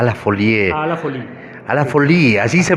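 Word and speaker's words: À la folie: A la Folie, así se pronuncia.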